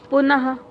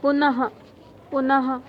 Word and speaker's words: पुनः: कई लोग बोलते हैं जैसे पुनः, देखिए उच्चारण में क्या आ रहा है? पुनः हा का उच्चारण आ रहा है ना, तो हमें हा नहीं लिखना है, इसका उच्चारण तो पुनः होगा, लेकिन लिखना क्या है हमको?